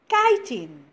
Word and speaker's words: chitin: because it is made of a substance called chitin which what is the role of this guiding it protects their soft internal organs what is there inside the body the internal organs the chitin protects those soft internal organs now you can